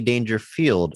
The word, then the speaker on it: Dangerfield: um which is that would be a Rodney danger field Andrew I don't want to issue an apology